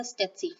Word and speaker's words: tsetse: And then there's Trypanosoma gambiense, which causes African sleeping sickness, and it is transmitted by the tsetse fly. The T is silent in that.